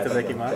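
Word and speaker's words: いただきます: Itadakimasu.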